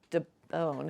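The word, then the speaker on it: d'Eaubonne: from being in France, and she'd met Francois de Beaune, and I don't speak French. Is that how you pronounce D apostrophe E-A-U-B-O-N-N-E.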